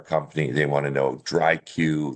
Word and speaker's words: DriQ: They look at it. Some people aren't sure how to pronounce it. Um, uh, Paige, you did a great job. But basically, it's a contraction of the word dry and IQ.